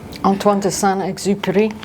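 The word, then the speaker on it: Antoine Exupéry: And I love this phrase, and I'll let Sam pronounce his name. Antoine Exuper.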